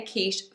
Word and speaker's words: quiche: We say quiche, so we say it as a sh. But what a lot of learners tend to do is they try to say the ch as a k, and they try to also pronounce the e. And if they do this, they might actually say, I want a quickie, because they're trying to say quiche phonetically.